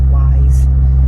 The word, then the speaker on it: Weis: So I think it's, if you're from Pennsylvania, you say Wise, even though it's W-E-I-S.